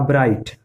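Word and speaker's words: bright: इसी तरह से आप ब्राइट, ब्राइट में भी देखिए GHT है, तो इसमें GH साइलेंट हो जाएगा, ब्राइट।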